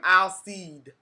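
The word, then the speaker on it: Alcide: elsie next season i'll she calls him al seed she pronounces the d and i thought you weren't supposed to pronounce the d but i guess so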